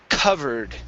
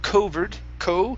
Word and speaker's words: covered: And the last one here is covered. Instead of covered, it's covered. cover, Give me a D sound at the end.